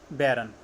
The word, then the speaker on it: baron: उसके बाद एक होता है बैरन, BARON बैरन, एक होता है BARREN बैरन। देखो स्पेलिंग डिफरेंट है, मीनिंग भी डिफरेंट है, लेकिन प्रोनाउंसिएशन सेम है।